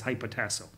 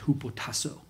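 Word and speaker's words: ὑποτάσσω: Their relationship between a woman and her husband is the Greek word is hypotasso. It's not how you pronounce it in Greek, but it's fine. Mm-hmm. It's hupotasso. Anyways, that word is only translated as obey one time in Titus.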